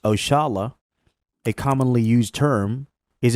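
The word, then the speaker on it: Oxalá: Oxala, pronounced Oshala, a commonly used term, is a direct descendant of a term we Muslims commonly use, Insha'Allah, means God willing.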